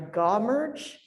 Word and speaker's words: GAW-merge: GAW-merge, G-A-W merge, which integrates array and whole genome sequencing data.